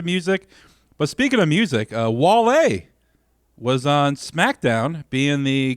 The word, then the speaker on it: Wale: But you say his name is pronounced Wale. Wale.